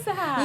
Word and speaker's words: Tsahai: No, say hi, Tsahai. You say she says the crazy things. You said it right We had a now.